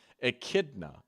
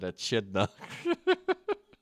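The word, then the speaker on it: echidna: Akidna. Okay, that makes more sense. Knuckles the Akidna. I really said Achidna.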